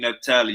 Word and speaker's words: Naphtali: Queen Naphtali, you ready to get to the first round? That's how you say her name, Queen Naphtali.